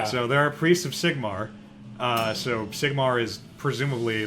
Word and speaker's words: Sigmar: Sigmar.